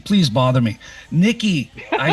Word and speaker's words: Nyki: It's actually pronounced Nyki.